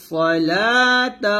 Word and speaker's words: الصلاة: يؤمنون بالغيب ويقيمون الصلاة এখানে ওয়াকফ ধরবে এখানে ওয়াকফ ধরলে তাটাকে আমরা হা উচ্চারণ করব লাতে 3 আলিফ টান দিয়ে তাটাকে হা উচ্চারণ করব ওয়া ইউকিমুনাস সালাহ এরকম ভাবে আবার এখান থেকে মিলাবো